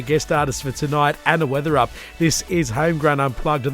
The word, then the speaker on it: Weatherup: Moving right along, what a great night it is with a fabulous artist in the studio, Anna Weatherup. I pronounced it right that time.